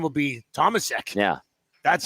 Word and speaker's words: Tomasek: But they pronounced it Tomashek. Tomashek. And I was like, oh, God, here we go. Yeah, we got to call him Tomashek. No, this is North America. This is Tomasek.